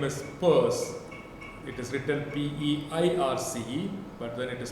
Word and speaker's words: Peirce: his last name is Peirce, it is written P-E-I-R-C-E, but then it is pronounced Peirce.